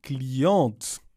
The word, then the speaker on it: cliente: commande le client la cliente client pronunciamos la t porque la t no está en lucifer la cliente pronunciamos porque va una e al final OK.